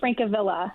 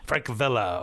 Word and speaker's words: Frankilla: It's Frankilla. Frankilla. Okay. I went with the old Spanish pronunciation of Franka. That's close enough. It's Italian.